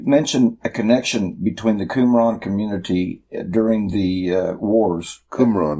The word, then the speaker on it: Qumran: Yeah, I mean, it's spelled Qum, but you would pronounce it Kum. Okay. Qumran.